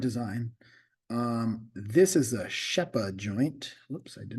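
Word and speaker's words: Rzeppa: here's a different design um this is a shepa joint whoops I did not mean to do that Shea it looks like rppa but it's pronounced sheppa so if you look look um here's your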